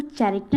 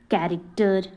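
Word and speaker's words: character: chess chair rich कैरेक्टर यहां पर इसको चरेक्टर नहीं पढ़ते इसको क्या पढ़ते हैं कैरेक्टर कोर्स सिफॉन सिकन तो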